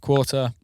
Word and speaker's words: QRTR: haven't heard of her qrtr uh pronounced quarter go check her out